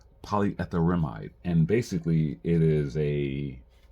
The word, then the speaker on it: polyetherimide: Pei is uh what it the how you pronounce this polyetherimide polyetherimide and basically it is a it's basically a